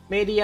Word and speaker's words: Medae: มัน เรียก ว่า ไง มัน อ่าน ว่า Media นะ ครับ ชื่อ ชื่อ ใน เกม นะ ไม่ ชื่อ ใน ตัว ของ การ์ตูน นะ Media นะ ครับ สามารถ วาง